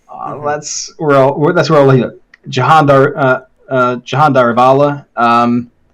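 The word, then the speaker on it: Jehan Daruvala: Jahan Darivala, at least that's how he pronounces his name. Everyone else just calls him Jihan Daruvala, yeah. But to me, it's always Jahan Darivala because that's how he says his name. Yeah. It's like, okay, well, if that's how you say your name, I'm guessing that's how you actually pronounce it.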